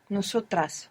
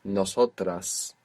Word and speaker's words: nosotras: Nosotras. Nosotras. Good. You pronounced an S there, which was very good.